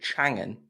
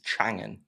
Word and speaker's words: Chang'an: we did at Changan, now I have to consciously think about how I pronounce it so I don't say it wrong. So I don't want to get a slap on the wrists from the PR people at both those brands. But it's Aeon, and it's Chang'an, not Chang'an, and it's not Ion.